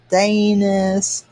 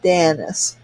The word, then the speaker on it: Danis: I get called Danis, Dana, Denise, Danny's. People pronounce it all sorts of ways. Goodness gracious. And it's pronounced Danis. It's like Dennis with an A.